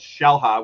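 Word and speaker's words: Xel-Há: Mexico we went to a place called shellha which is spelled with an x x e l h a shellha uh and it's just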